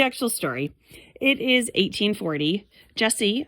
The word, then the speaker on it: Jessie: Jesse, a boy, even though it's spelled Jessie, lives in New Orleans with his mom and his baby sister Betty.